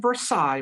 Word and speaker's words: Versailles: Looks like Versailles, but it's pronounced Versailles.